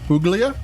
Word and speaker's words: Puglia: The first thing, Puglia is spelled Puglia, which sounds like Puglia, but it's Puglia. G is silent whenever times there's a GL.